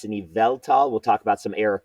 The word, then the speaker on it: Yveltal: I can't say the word but it's an eveltal we'll talk about some error cards that'll be